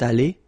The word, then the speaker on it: allée: Phonetically, it doesn't exist. You don't pronounce it, so you get elle est allée, and then for the masculine form, il est allé.